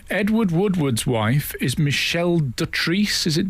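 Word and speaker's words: Dotrice: Edward Woodward's wife is Michelle Dutrice. Is it Dutrice? That's how we pronounce it.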